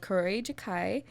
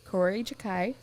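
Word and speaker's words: Kuroi Jukai: a mystery novel called corey jakai um i don't know if i pronounced that right it's k-u-r-o-i-j-u-k-a-i so corey jakai the way i'm gonna pronounce it um this is translated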